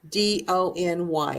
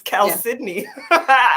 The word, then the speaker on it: chalcedony: CHALCEDONY. I think that's. I know this one. It's Chalcedony. Okay. I always said Chalcedony, and I was wrong. And then I had somebody say that it's Chalcedony.